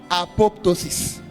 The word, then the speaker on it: apoptosis: we call number one, apoptosis. Write it down. You even if you learn all this, that's what you get for coming here today. Right as it's pronounced. Apop. Put A in front of pop.